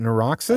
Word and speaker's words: Neuroxus: You want to talk about um how do you pronounce this one? Nurox. Is it Nuroxis? I think just Nuroxis.